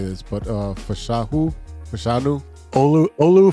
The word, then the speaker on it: Fashanu: You had, I don't even know how to say this, but Fashanu? Olu Fashanu.